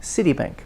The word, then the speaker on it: Citibank: you talk like that citibank uh checking account by the way compound me stress on the first one 14 same thing